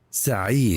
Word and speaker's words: Saeed: S-A-E-E-D. How do you say that? Saeed. Saeed.